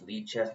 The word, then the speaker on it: lichess: on Li chess a lot um actually it's pronounced Le chest but it looks like light chest but whatever